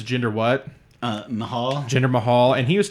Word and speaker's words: Mahal: say his last name it's Jinder what uh Mahal Jinder Mahal and he used to be in